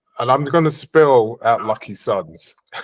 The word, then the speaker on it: LKYSUNZ: well um and I'm going to spill out lucky Suns it's easy enough for them to find you